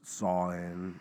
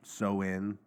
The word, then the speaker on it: Samhain: So Halloween's origins date back to the ancient Celtic festivals of, a lot of people pronounce it Samhain. It's Samhain or Samhain.